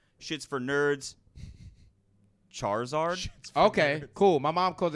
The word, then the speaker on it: Charizard: Charizard. Okay, cool. My mom calls it Shaharizard.